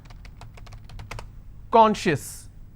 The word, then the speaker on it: conscious: Conscious. How many syllables do I have? 2. And I will stress on con.